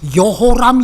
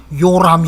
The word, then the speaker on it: 여호람: 그 다음이 겨울 아닌데 여호람 이라고 하는 히브리 발음을 때에 따라서는 요람 이라고도 합니다 발음상의 문제에요 적혀서 이 법문에서 이요셉